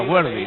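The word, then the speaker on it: Worthy: denisail se disculpa ante en realidad se pronuncia wardy nosotros estamos tan acostumbrados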